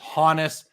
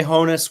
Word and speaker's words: Honus: me ask you this I've always said Honus Wagner some people told told me it's Honis how do you say this guy's name I say Honus Wagner me too me too